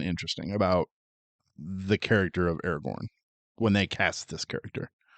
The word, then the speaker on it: Aragorn: I pronounce it Aragon. I understand it's Aragorn.